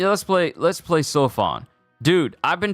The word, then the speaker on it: Seofon: let's play Let's Play sofon dude I've been saying San's name wrong this whole time I've been mispronouncing it it's pronounced so Fon it's not seaon it's soan I've been saying it